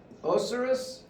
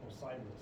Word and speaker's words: Osiris: that flooding to uh that same God uh oseris was was a god of Agriculture again it's did I say it wrong but Osiris Osiris so uh the god of Agriculture because